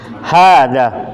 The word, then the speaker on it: هذا: Hada. Irfa sautakum. Hada. Hada. I ini ya, artinya ini. Tip. Tip. Al-jumlah al-ula, hada baitun. Hada baitun. Hada baitun. Nah, cara bacanya hada, ya, hanya panjang, danya panjang. Hada.